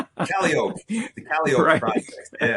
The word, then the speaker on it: Calliope: they said they said this way, like it's supposed to be Calliope, but we pronounce it Calliope.